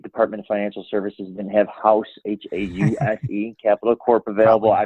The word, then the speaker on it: Haus: far as your offerings sure so it's it's pronounced house Capital Corp I my president broker owner I